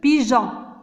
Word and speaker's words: pigeon: Alors, regardez ici, on a le G devant E, c'est je, pigeon.